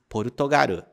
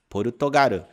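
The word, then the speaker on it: ポルトガル: Outro exemplo seria Portugal, que em japonês se diz Portugaru, Portugaru, escrito em katakana com essas letras aqui.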